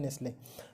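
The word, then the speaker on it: Nestlé: और उसके बाद पेप्सिको, और उसके बाद रहा नेस्ले NESTLE, टी इसमें साइलेंट रहता है तो इसको पढ़ते हैं नेस्ले।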